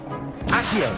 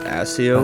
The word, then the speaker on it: Accio: I always pronounced it Asio That's good in to the hear. books, It's a lot to take in all at once. but To put it it lightly, makes sense that it's Accio.